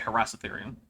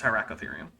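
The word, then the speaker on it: Hyracotherium: it was fast well he didn't say it wrong he just said harass ethereum it's hierarchatherium i don't i don't think he pronounced the the eye i think he said iran not irian no but he did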